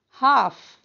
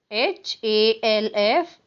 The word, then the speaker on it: half: Half. H-A-L-F. Half. The L is silent here, children, in half.